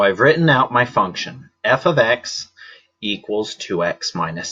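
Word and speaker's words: f(x): It's this f of x that's written right here. Now this is not f times x. Notice the pronunciation that I used.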